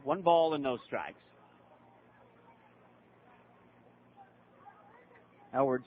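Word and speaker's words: Eylward: ball and no strikes edward spelled e y l w a r d way it's pronounced the y might as well not even be there the one up bringing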